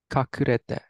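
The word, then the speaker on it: 隠れて: How's this guy pronounce? Yumeshi. Perfect. And this guy? Ashioto. Perfect. And this guy way over here? Kakurete.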